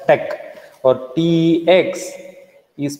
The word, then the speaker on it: TeX: This is pronounced as tech, or TX is pronounced as tech.